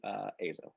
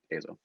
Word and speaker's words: EIZO: It's apparently EIZO, everyone. That's how you say it correctly. EIZO.